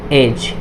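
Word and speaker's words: edge: अगर जी से पहले डी हो, जी से पहले डी हो तो डी प्राय साइलेंट होगा, डी हमेशा क्या होगा, साइलेंट होगा। कब साइलेंट होगा, जब जी से पहले अगर डी आए तब डी साइलेंट होगा। तो ये देखिए ये जी है और जी से पहले क्या है, ये डी है, तो डी क्या होगा, यहाँ पे साइलेंट हो जाएगा।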